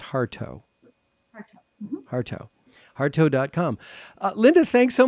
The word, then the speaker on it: Hartough: But it's pronounced Hartough.